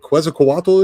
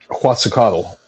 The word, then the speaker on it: Quetzalcoatl: I'm see if I hope I pronounce this right. Is it Quetzalcoatl? Is? Do you know who that is? Quetzalcoatl.